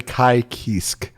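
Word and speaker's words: Ky Kiske: do you pronounce that apparently in japanese it's a i and then kisku so and then he's like french also so it's apparently kai kisk so neat to hear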